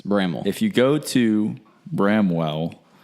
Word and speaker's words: Bramwell: it's Bramwell it's not Bramwell it's Bramwell if you go to Bramwell and say Bramwell you're gonna get looked at funny by everyone that lives there at Bramwell basically take the W out and that's what you